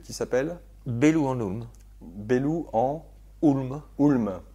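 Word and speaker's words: Bellou-en-Houlme: Bellou en Hulm. Ulm. H O U L M E. Oui, c'est pas toujours facile à prononcer.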